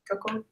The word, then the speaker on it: Toko: I think Toko. How do you say Toko? Cool. Toko. So it's the vowels are the same What? as Spanish. The vowels are the same as Spanish.